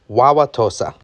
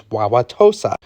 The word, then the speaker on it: Wauwatosa: Well, historically, when you have this A in an Ojiway or similar language word, you actually say the word a in it. So, you would probably historically have pronounced this as wawa to.